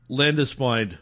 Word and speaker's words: Landesfeind: How do you pronounce your last name properly? Landispind.